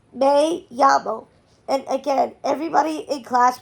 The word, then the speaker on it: me llamo: Luke, it's not me llamo, it's me llamo.